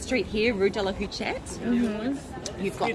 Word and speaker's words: Huchette: I try not to pronounce the last word. The last letter? Yeah, because it That's looks the like rule. that's, Yeah, that's the rule.